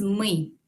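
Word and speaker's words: мы: a na anna el equivalente de nosotros es muy vamos a repetir muy muy tres pronombres españoles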